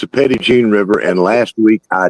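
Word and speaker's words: Petit Jean: Petty Jean because that's it's Petty Jean that's how you say it so it's not petite like I said first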